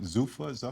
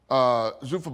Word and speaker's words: Zuffa: Now, how do you pronounce it? Zuffa? Yeah, Zuffa, yeah.